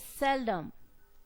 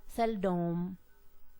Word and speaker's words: seldom: not pronounce it as seldom we are not going to give stress on the second syllable in pronunciation of that particular word we pronounce it as cell cell dumb then thus syllables containing